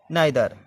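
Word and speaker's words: neither: Next देखें, ए ई का उच्चारण आई ए ई की ध्वनि में। देखिए 8 नंबर देखते हैं, नाइदर, एन ई आई टी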